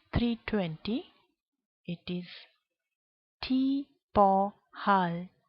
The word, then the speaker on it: halv: And at 3:40, it is t over halv 4. The v here is silent.